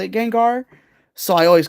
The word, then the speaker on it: Gengar: Gengar.